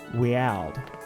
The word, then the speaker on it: Weald: The slumbering weld or wield? Weald. I know that there's a lot of names that I don't pronounce right.